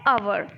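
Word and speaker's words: hour: Harvard लिखने हो लेकिन बोला क्या जाता है अवर तो हा ओ यू आर अवर most important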